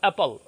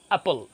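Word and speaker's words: apple: আচ্ছা, আরেকটা আছে অ্যাপল, আপনারা বলেন কি আপেল, হবে অ্যাপল, অ্যাপল। আরেকটা উচ্চারণ বলে দিই, আপনারা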